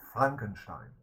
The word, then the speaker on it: Frankenstein: Mary Shelley also had the original idea for her Frankenstein, or Frankenstein in proper German pronunciation.